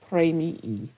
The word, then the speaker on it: premii: They've got this double I at the end, so you sort of pronounce both, premii.